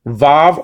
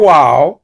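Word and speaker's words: ו: Yod, hey, vav, or wow. Okay, that letter can be pronounced in two ways.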